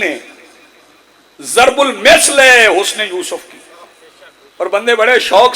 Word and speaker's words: یوسف: تلفظ ویسے یوسف نہیں ہے, یوسف. جناب گرامر کے اعتبار سے کہیں کہیں یوسف آیا, لیکن اصل جو اسم کے اعتبار سے وہ یوسف ہے.